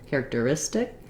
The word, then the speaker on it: characteristic: syllable characteristic and again here's a t that's between two unstressed syllables in in the word and so that makes it sound a little bit more like a d basically a flap t there you can get help